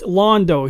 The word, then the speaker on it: Londo: It's Londo. He's named after Londo from Babylon 5, not Lando Calrissian.